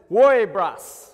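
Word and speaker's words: woiibrusss!: is very important all right and it said pronounced says worry brush okay and it sounds so weird but i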